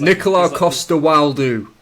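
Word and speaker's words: Nikolaj Coster-Waldau: So it's the movie where he goes out into the woods and he has Nicola Costa-Waldau. That's it. I'm glad you pronounced so that.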